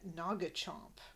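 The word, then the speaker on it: Noggchomp: home especially his pet Naga Chomp I don't know if Naga Chomp is like nagahide we get Naga hide a bit later in this scene it's spelled differently it's n o g g Chomp he says that's the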